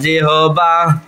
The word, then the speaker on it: জিহ্বা: জিহ্বা লিসানুন জিহ্বা লিসানুন জিহবা লিসানুন জিহবা লিসানুন জিহবা লিসানুন জিহবা সঠিক উচ্চারণ জিহবা হ্যাঁ আর আমাদের প্রচলিত আমরা বলি কি জিহ্বা লিসান লিসানুন জিহবা লিসানুন জিহবা লিসানুন জিহ্বা লিসানুন জিব্বা লিসানুন জিব্বা লিসানুন জিব্বা